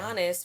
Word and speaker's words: Giannis: Giannis, first off, the name rhymes with honest. Honest to honest, for real.